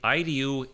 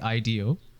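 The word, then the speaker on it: IDEO: how you say it so it's actually Ido um yeah like e ye yes uh and this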